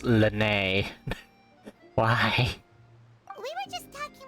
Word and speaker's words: Lynette: just arrived in Fontaine why the English want to call him Lenny with like l-e-n-ny when it's pronounced Lanae why we were just